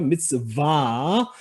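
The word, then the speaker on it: מצוה: 자, 여기 쉐바는 앞에 단모음 다음에 묵음 쉐바. 미츠로 음절이 끊어지고, 그 다음에 바브라고 하는 자음으로 시작하는 거죠. 미츠바.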